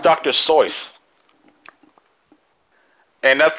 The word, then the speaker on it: Seuss: Seuss like soy sauce it's pronounced dr. sois and that's like my whole my whole childhood was a lie I've read all dr.